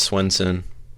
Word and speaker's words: Swenson: is your last name yes sir it's Swenson okay all right and where are you connecting